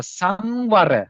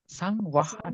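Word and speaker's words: saṃvara: Sabbāsava Sangvara. How to say pronounce? Sangvara. Sangvara. How to pronounce again? Sangvara. Sangvara. Sangvaha, not Sangvaha. Sangvara. Remember? Sangvara.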